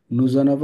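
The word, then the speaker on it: nous avons: নুজোনাভো নুজোনাভো ওকে নুজোনা normally হওয়ার কথা নু অনবো নুজনাব এজন্য হইছে এটা শেষ হইছে কনসোনেন্ট দিয়ে আর এটা শুরু হইছে ভয়েল দিয়ে এজন্য বলতে হবে উই নুজোনাভ উই নুজনাব ল লে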